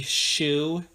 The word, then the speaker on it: Shue: Yeah, 1981 by Larry Shue. It's spelled S-H-U-E, so it's not like a shoe that you wear on your foot.